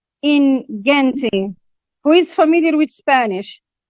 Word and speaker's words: gente: I think that it's g in Gente.